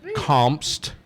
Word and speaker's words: Kompst: I'm on all the things things my name is spelled weird though so it's a b i g a y l e comps k o m p St T brilliant yeah